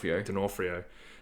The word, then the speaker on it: D'Onofrio: Vincent How do you pronounce his surname? Vincent D'Onofrio.